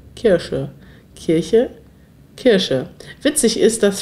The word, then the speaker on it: Kirsche: Zoe Welsh fragt, wie ausgesprochen die Kirche versus die Kirsche? Kirche, Kirsche, Kirche, Kirsche.